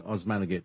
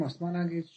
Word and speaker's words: Osmanagich: of your name because I'm I'm saying osmanagich but it's you are fine osmanagich it's fine so um now we